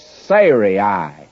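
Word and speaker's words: Sarai: her name sah and I have actually been pronouncing it incorrectly all through here and I'm not about to change it it's Seri would be the correct pronunciation before Siri well if ID started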